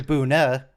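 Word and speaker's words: Buhne: some people pronounce it booner with an r which i is fairly close to buna which is how it's pronounced in german i think people just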